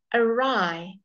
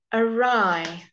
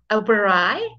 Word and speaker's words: awry: funny okay then I'm looking at the silent letter W so his plans went awry awry can you see that we don't say that Oberoi we don't say that we say awry often a EE before